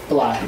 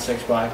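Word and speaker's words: 6LACK: I love Black, not 6 Black. I love Black. Yeah, I just said that because that's how it's spelled.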